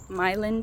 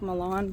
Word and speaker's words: Milan: Um, also this weekend, well, so that was out in Milin, Tennessee. It's spelled like Milan, but I was told that if you pronounce it like that, people are going to give you a hard time.